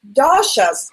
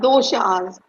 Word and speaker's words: doshas: explain what the word dasas means a lot of people have no clue that means I probably didn't even say it right so you said it perfectly then it's called doas so that is the